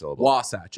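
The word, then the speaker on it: Wasatch: no wasch is on I believe the emphasis is on the second syllable no it's first wasat okay I will not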